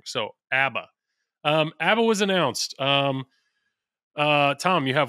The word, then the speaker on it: ABBA: We got multiple emails that apparently we've all been saying it wrong. I kept saying ABBA last. It's ABBA. Like ABBA. Abacus.